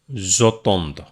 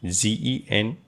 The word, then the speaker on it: j'entends: Actually, it is GE. After it is E. So here one E have to sacrifice because I said many times two vowel not come together in French. So that is why it's pronounced j'entends. It is not like GENENTRE. Okay. So it is j'entends.